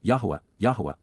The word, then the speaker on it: Yahowah: Instead, they will work with, Abad, they will productively labor alongside, Yahowah, God's proper designation pronounced as instructed by his Torah, guidance on his YAHOWAH,